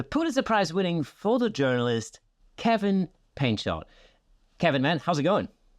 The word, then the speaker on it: Painchaud: It's French, so a lot of French people, I say Painchaud. What are you doing? It's because in French it's Painchaud, but I don't speak French, so just Painchaud.